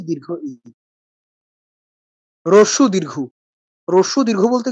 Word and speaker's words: দীর্ঘ ই: আমরা হ্রস্ব ই বলি না, দীর্ঘ ই বলি না। বলি কি? রস্যি দীর্ঘি। রস্যি দীর্ঘি বলতে কিছু হয় না। কি হয়? হ্রস্ব ই, দীর্ঘ ই।